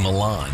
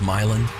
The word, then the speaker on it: Milan: But I They keep saying Milan. Don't they know it's Miland? Any Hooser could have told them that.